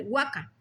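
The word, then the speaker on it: huaca: significaciones que tiene el nombre Waka el cual pronunciada la última sílaba en su alto del paladar quiere decir ídolo como Júpiter Marte Venus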